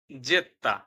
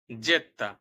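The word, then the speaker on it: zeta: হবে ভু সর্বশেষে আছে জেত্তা যাকে আমরা জেড বলে আগে চিনতাম জেত্তা আসুন এখন ইতালিয়ান ভাষায়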